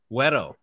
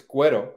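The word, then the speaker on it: güero: When you were Weto. Can you give us a little Spanish? It's Guero, but you're pretty close.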